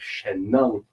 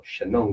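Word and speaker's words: Shennong: back to the character of Shen Nung, or Shenong, depending on pronunciation and dialect.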